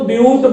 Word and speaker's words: but: आप इसको बट का उच्चारण नहीं लीजिएगा, बट कहेंगे गलत होगा, आप यहां पर इसको ब्यूट बोलेंगे।